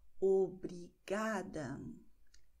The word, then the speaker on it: obrigada: Und das heißt, wenn ein Wort auf A, E, O, as, es, os, ng, eng endet, betonen wir die vorletzte Silbe. Okay? Zum Beispiel obrigada, tarde, obrigado.